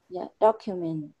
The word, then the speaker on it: document: pronunciation of uh document you want to emphasize that first syllable document right when you say